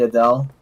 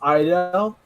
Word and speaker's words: Idel: It's pronounced Idel, so like an I and like a Dale.